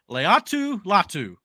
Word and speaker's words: Laiatu Latu: Okay, I believe it's pronounced Laiatu Latu.